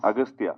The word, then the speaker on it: Agastya: It is Aghathiyaa, but in the film, your name is pronounced in different ways. Agastya. Yeah. Yeah. In both ways, it is pronounced. Yeah, it's Aghathiyaa and also Agastya. So I don't know.